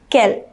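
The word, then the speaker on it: quelle: feminine singular noun in the sentence we use Kel q-u-e-l-l-e both these mean the same it means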